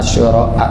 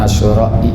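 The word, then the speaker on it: عاشوراء: Bacanya asyura, jangan asyura'i.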